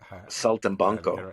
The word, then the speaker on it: Saltimbanco: How do you pronounce that show? Saltimbanco? Saltimbanco, yeah, Saltimbanco, Saltimbanco.